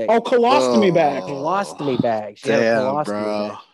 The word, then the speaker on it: colostomy: call a mo colonoscopy yeah what is a clamostomy bag how do you say it oh colostomy bag lost me bag yeah so did you